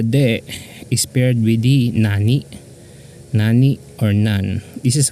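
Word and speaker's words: 何: I'm telling you guys the default reading should for this candy should be Nani or if otherwise a person correct you that uh you should be read as none so if uh if if others will not correct you as none so I suggest that you by default read this as Nani so the confusion is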